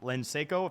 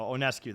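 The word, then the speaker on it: Ionescu: Her name is spelled starting with an L, so Onescu. The L is silent.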